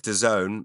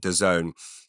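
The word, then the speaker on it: DAZN: in Wembley Stadium and it's on uh Doone that's spelled da a ZN I don't know why it's I've heard them pronounce it Doone boxing the app the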